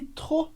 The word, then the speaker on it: trop: Você percebeu que a palavra trop se escreve com P, mas a gente não pronuncia. Por quê? Como regra geral no francês, a gente não pronuncia o E no final de palavras e a gente não